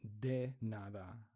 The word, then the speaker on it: de nada: And so in Spanish, it would be de nada, but in Portuguese, it's j. The D, E, or the D, the letter D is pronounced j. J.